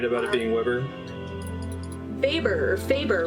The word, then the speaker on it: Weber: It's more like Faber.